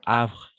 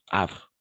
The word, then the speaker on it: Havre: est muet n'est-ce pas le H est muet donc en français de la même façon h le H est muet d'accord et donc on va simplement prononcer à d'accord Havre comme de la même